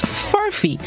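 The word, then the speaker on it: furphy: words this morning's word of the day is furfee furfee it's spelled f-u-r-p-h-y pronounced furfee it is a noun which means a false report or a rumor furffy it is a piece of australian slang which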